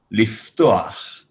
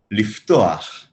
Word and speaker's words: לפתוח: Liftoach. Toach. Toach. Lif. Liftoach.